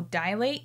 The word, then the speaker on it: dilate: go for it oh dilate it's not dil dilate you're not dilating your eyes or your cervix you're dilating them it's dilate d-i-l-a-t-e i always thought it was d-i-a-l-a-t-e dilate i think i like